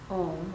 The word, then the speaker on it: Om: So the sound of Om sometimes is spelled O-H, is spelled O-H-M, and sometimes people say it Om, but the way Sanskrit works, it actually is Om, like O-M.